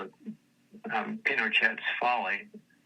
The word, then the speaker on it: Pinochet: And uh they called it um Pinochet's Folly. They pronounce it Pinochet instead of Pinochet like French.